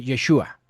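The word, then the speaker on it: ישוע: Y en hebreo Jesús se pronuncia o se escribe Yeshua o Yeshua Amasiaj, que significa Jesús, el Mesías.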